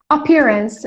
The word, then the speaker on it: appearance: Appearance. Guys, pay attention to the pronunciation. Appearance. Appearance. Appearance. Stress is on the second syllable. Appearance. So it's not appearance, appearance, none of them, okay?